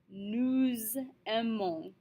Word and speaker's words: nous aimons: Here we have nous aimons. We're going to say it like it's all one word.